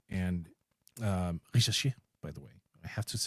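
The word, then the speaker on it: Risacher: They obviously have some rookie contracts in form of Zachary Risachet and Risachet, by the way.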